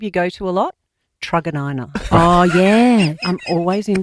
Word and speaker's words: Truganina: Do you know how I know it's Truganina? Oh, I think 'Cause you you go once there told so me. much. Because I went Because it into rhymes with something? That's how I got Yes. told to learn how to Are say we it.